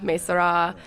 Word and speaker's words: Maysara: you pronounce it and in Farsi we say Mae Sarah but we accept any kind of pronunciation I mean in our own family interchanges - Mae Sara Mae Syrah so it's been interesting